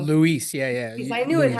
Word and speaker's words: Luis: Luis, yeah, I knew it Luis.